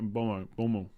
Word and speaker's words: Mboma: It's a silent M. They do this in Africa. It's more like Bomo.